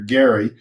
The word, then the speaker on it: Gerry: signed into law by governor gary was the way he pronounced it and the newspaper ran